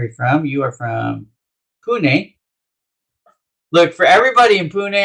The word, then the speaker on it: Pune: i was saying it i was saying it wrong i've been saying it wrong for years because ira it's pune and i go let